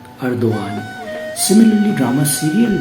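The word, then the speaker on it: Erdoğan: है रेसिप Tayyip अर्दोगान, लेकिन जो सी है वो य के तौर पे यूज़ होता है और पी है वो ब के तौर पे यूज़ होता है और जी साइलेंट होता है, लिहाजा रेसिप नहीं रजब तय्यब अर्दोगान।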